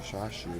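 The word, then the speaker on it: chashu: Now with this ramen, the bite of the shashu. Shashu. Notice I say it like the artist Shashu.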